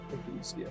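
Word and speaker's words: ageusia: I don't know if I can pronounce it right, but yeah, you said it right, I think, Patrick. Agousia.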